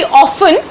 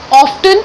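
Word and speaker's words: often: Otherwise इसकी pronunciation पहले हुआ करती थी ऑफन, टी को हम नहीं प्रोनाउंस करते थे, बट नाउ इट is called ऑफ्टन also.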